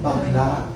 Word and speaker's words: bakla: Bakla.